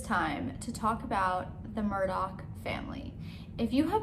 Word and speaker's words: Murdaugh: also they wanted to spell their last name murdoch but pronounce it murdock so go figure anyway